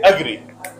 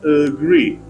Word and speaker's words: agree: mispronounced many people say agree I agree with you they put stress on the first syll but the correct pronunciation is agree stress is on second syllable this is the sign